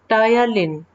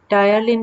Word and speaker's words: ptyalin: लार में एक विशेष प्रकार का खमीर उपस्थित होता है, जिसे टायालिन, PTYALIN, टायालिन कहते हैं। P साइलेंट होता है इसमें।